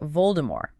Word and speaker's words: Voldemort: So it should be Voldemort technically. Yeah. But in the movies, it's always vul. The T is pronounced.